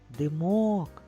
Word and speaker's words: димок: слово на екрані Димок поставимо наголос для цього покличемо слово Димок Димок наголос над буквою О так а яке слово